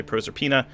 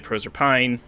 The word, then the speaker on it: Proserpina: name some people say Proserpina some people say Proserpine I'm gonna you say